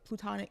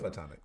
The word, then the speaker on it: platonic: They say was was a plutonic, how do you say that? Platonic.